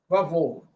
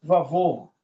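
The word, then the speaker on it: וָבֹהוּ: Esse com Camex é o seguinte, usado para ligar duas palavras monossílabas. Quando eu pego ali aquele texto de torro, vavorro, olha só, torro, vavorro, torro, vavorro, torro, vavorro, torro, vavorro.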